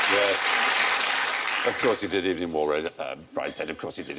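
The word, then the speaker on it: Evelyn Waugh: I was just checking whether or not you'd remembered not to mention It's not wars. pronounced like that, is it? It's Evening Waff. No, if only it were.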